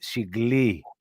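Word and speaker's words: συγκληρονόμοι: If I take this line and I put it here, then you will read siglironomi. It's where the emphasis is on a word. And again, the word Genesis is not being pronounced Genesis, it is pronounced Genesis. And in Greek, it's because the emphasis is on the E, on the E. Genesis, it means birth. Okay. Genesis literally means birth, not creation, birth. All right. So the word reads siglironomi. Now, if you go at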